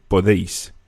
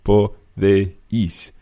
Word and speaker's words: podéis: And just one thing when you're pronouncing that vosotros form, the podéis, the E and the I of podéis kind of run together. There's not really 3 syllables in there, podéis, but you run the D, the déis together, so podéis.